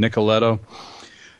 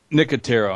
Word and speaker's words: Nicotero: Am I going to mispronounce his name again? Nicoletto? Nicotero.